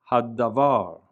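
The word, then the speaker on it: הדבר: And so the word on the left, haddavar, the he is pronounced.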